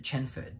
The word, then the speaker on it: Chenford: If I didn't pronounce it, Chenford, because it's Chen and Bradford.